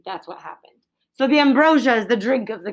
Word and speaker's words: ambrosia: Ambrosia. Often pronounced ambrosia as well, where you get the I in there, ambrosia.